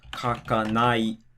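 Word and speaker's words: 書かない: So if we have kakanai, then the drop is going to be before the nai.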